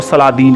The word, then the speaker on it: Saladin: سلادین رکھا گیا ہے۔ دراصل انگریز اپنے تلفظ میں صلاح الدین کو سلادین کہتے ہیں اور یہ جانکاری آپ